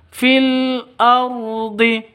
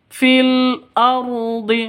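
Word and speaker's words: في الأرض: ke lam fil se seperti itu cara bacanya fil Ardi fil Ardi rnya ro tebal ya ro tebal ini Alif lamnya ini alif lam qari qamariah karena tandanya sukun Ardi rnya ro tafhim atau ro tebal fil ardhi Wu wama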